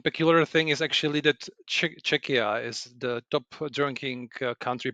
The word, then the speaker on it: Czechia: So, Ludek, you're from Czechia, I believe. Is that how you pronounce it? No, Czechia. Czechia. Because Okay. your pronunciation is similar to Chechnya, which is much more to the east.